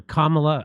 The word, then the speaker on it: Kamala: So it seems like the again, it's going to be 100% this kind of crazy talk from the Kamala Harris or Kamala.